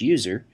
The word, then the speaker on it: usr: by the system administrator slash usr often pronounced slash user which contains software that